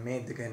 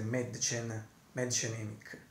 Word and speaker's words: Mädchen Amick: Appena letto anche la pronuncia precisa in tedesco, e a quanto pare prima dicevo Madchen, Madgen, ma adesso l'ho letta bene, diciamo dovrebbe essere Madchen Emick. Quindi la nostra, cioè Madchen Emick, la nostra grandissima Shelley Johnson.